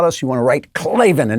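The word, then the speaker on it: Klavan: to write clavin and you want to just say it just the same way say it with that alpha clavin right in there and also spell it that way k l a v a n and don't put in any e's that's for losers one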